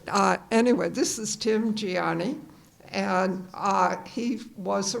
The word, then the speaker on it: Ghianni: thank you again it's it's Tim Giani I was almost everybody mispronounces is my name so I don't take I don't take offense at all my uh but I do it's Tim guon in Italian this is a rule in Italian if you have a